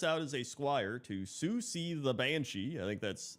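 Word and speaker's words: Siouxsie: as a squire to Susi the Banshee I think that's it's s i o uux i s e I think that's how you say it uh and he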